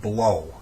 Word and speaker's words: BLAUX: here to talk about the blow it's spelled BL a u X portable air conditioner